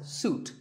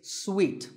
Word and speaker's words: suite: in a hotel and this is wrongly pronounced by many people as suit but it's sweet like when you eat a piece of candy sweet and while we're